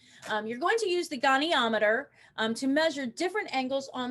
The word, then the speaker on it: goniometer: called the goniometer and that is how it's pronounced goniometer and here's what a